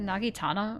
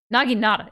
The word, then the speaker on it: Naginata: The Nagitana or Nagina? Wait. Wait. Wait. Naginata, yeah.